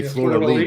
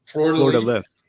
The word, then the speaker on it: Fleur de Lis: Well, that's because I used to always say Fleur de Lis, but it's Fleur de Lis. They say Fleur de Lis.